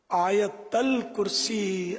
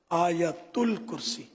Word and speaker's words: آیت الکرسی: آیت الکرسی عوام بولتے ہیں، اصل تلفظ ہے آیت الکرسی.